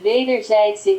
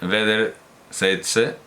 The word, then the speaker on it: wederzijdse: Yo tengo la duda sobre wederzijdse, a ver cómo lo pronuncia exactamente. Que significa mutuo, por cierto. Au. Wederzijdse. Wederzijdse. Wederzijdse. Es como ei, ¿no? O ai, ei.